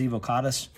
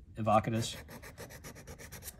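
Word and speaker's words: evocatus: than likely you know correct pronunciation is evil caught us but you know i've americanized it and it rolls off my tongue easier so i just call it evocatis because you know america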